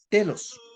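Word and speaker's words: τέλος: Pero cuando seguimos viendo esto, pero en realidad la palabra fin en griego tiene su pronunciación que es lo que estaba diciendo hace un rato, telos.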